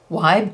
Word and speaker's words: Wibe: to my attention that I have been pronouncing wide Duo wrong I call it a wibby Duo it is a wive Duo I don't know where